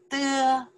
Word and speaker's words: 得: You can pronounce the de. Okay, you can pronounce the de. Also, you can pronounce the de. The third tones, okay?